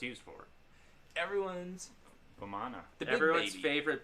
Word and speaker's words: Vamana: Everyone's Vamana. the big Everyone's baby. favorite big baby. Vamana or Vaman. It's pronounced Vaman in Hindi, but So whatever.